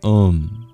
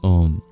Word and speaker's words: Om: Pranāva is the nickname, actually, I guess, of Om.